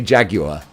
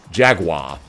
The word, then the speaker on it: Jaguar: Someone pointed out, like, English say Jaguar, Americans say Jaguar. Yeah, pronounce it however you like.